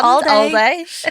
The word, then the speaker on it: AL-DAY: And they had, it was like on the branded van, they had AL-DAY, like not like Aldi, all day. Which I think you should pronounce it all day.